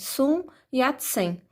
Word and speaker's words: Sun Yat-sen: Sun Yat-sen. A forma que a gente lê é a forma que a gente pronuncia mesmo, tá?